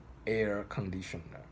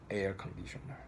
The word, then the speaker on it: air conditioner: So one example is air conditioner, air conditioner. So how you should stress this word, air conditioner? You should stress the first part of this phrase.